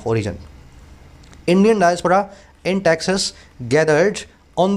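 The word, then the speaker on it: diaspora: फिर अगला वर्ड है डायस्पोरा। इसको कुछ लोग डिस्पोरा बोलते हैं, कुछ डायोसोपोरा, पता नहीं क्या क्या बोलते हैं, खुद भी बोल के देखो। सही प्रोनाउंसिएशन है इसका डायस्पोरा।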